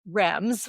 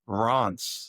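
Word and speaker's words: Reims: That to us sounds like rams.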